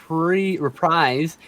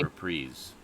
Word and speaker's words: reprise: And a reprise would be a returning to act. Yes, but it's pronounced reprise. Reprise. Like when you have Stoudman, how does what you said? It's reprise.